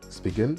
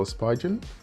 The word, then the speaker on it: Spigen: i learned how to pronounce the word speaking no spigen and i learned a